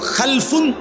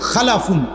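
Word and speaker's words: خَلَفٌ: হল খালফুন আরেকটা হল খালাফুন একই শব্দ শুধু উচ্চারণের মধ্যে একটু ভিন্নতা মাঝখানে একটা লাম আছে এই লামটার মধ্যে যদি সাকিন হয় তাইলে হল খালফুন আর যদি লামের মধ্যে জবর হয় তাহলে হল খালাফুন আরবি শব্দ এ খালফুন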